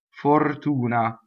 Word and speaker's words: fortuna: Ma per fortuna, double P, ma per fortuna, closed O, fo O, right? So P-E-R, closed E.